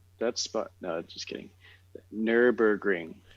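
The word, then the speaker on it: Nürburgring: spot no just kidding nurburgring nurburgring yep okay thank you nurburgring now say it with a german accent and then you'll find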